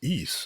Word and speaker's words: Ys: And I didn't know how to pronounce it until I heard Morgan Webb pronounce it in an X Play review. Mhm. And she was like, "It's East."